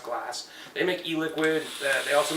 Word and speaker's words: Glas: Glass, GLAS is the company's name. It's pronounced Glass.